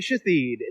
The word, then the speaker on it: Shathid: For baby Shathid. The H is silent, guys. Don't even get it twisted.